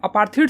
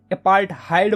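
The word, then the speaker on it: apartheid: तो देखो यार साउथ अफ्रीका में ना यार अपार्थीड सिस्टम जो थी ना, अपार्थीड बोलो या फिर अपार्थहाइड बोलो, यार कुछ लोग इसको अपार्थीड बोलते हैं, कुछ लोग इसको अपार्थहाइड बोलते हैं, ठीक है।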